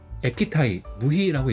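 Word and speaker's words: 液体ムヒ: 그래서 발음은 이제 에키타이 무희라고 읽어요.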